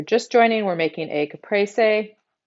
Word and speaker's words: caprese: So if you're just joining, we're making a caprese. That's my Texas twang girl way of pronouncing it. I know the Italian way. If you say caprese, I'm going to say you're saying it wrong.